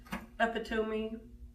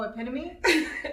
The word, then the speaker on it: epitome: name real quick: sorry, how many of you said "ep-i-toe-me?" - Oh, epitome? - "Ep-i-toe-me." When I first started reading as a kid, it was "ep-i-toe-me." "That is the 'ep-i-toe-me' of..." Because I read it! I never heard it.